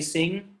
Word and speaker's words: sing: it's ng okay like do you pronounce the g when you say sing sing no that's the weird silent g okay okay okay all